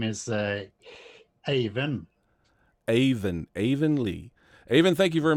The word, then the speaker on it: Eivind: did on our show and I said it's evenly well apparently he went Lee is not the way you pronounce his name so I would like to